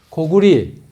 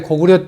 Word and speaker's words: 고구려: 그러니까 조선, 고구리, 그 다음에 고구려 때는 나라 이름을 고구리라고 불렀습니다. 지금 잘못 읽고 있는 거예요.